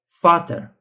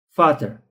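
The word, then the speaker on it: Vater: Example that I provided in the the word Fater like Fater. Fater.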